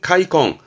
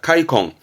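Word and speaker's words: 悔恨: 회한, 발음은 카이콩, 음으로는 콩 갑니다. 카이콩.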